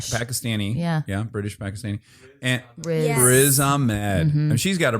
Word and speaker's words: Riz: Yeah, it's like one syllable. Totally. It is one. She's got a she's he's tiny. What's his name? Yep. He's Pakistani. Yeah, British Pakistani and Riz Ahmed and she's got